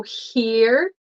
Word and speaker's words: here: easy to see so here her do you hear her she is here you can repeat here here anything and her um for quebecers these are different there's no h so here ear I hear with my